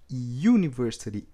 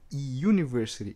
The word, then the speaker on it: university: pronúncia de inglês é university university essays on the you é o som do y em inglês you universe então por